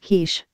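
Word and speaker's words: quiche: to Clinton and says it's pronounced Kish haha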